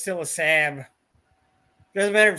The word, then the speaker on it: Saab: did that though see look how many A's there are in Sab it's literally made to be pronounced Sab look at it say sam now I can't speak